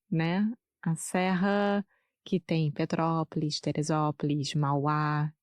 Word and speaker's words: Petrópolis: favor todos esses nomes Petrópolis Teresópolis são bem difíceis para mim sim Petrópolis mas é só pensar em petróleo e aí Petrópolis Então minha pronúncia está correta agora Petrópolis ótimo sim eu fui